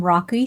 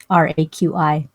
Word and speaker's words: Raqi: I am Raqi. My name is easier to pronounce than it looks. The Q without the U is not done in English. That's why it's confusing. Raqi.